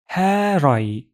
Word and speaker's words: her: But a native Turkish speaker would pronounce har. So this red joins to next word.